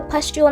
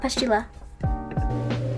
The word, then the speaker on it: pustule: Pustule, not pustula.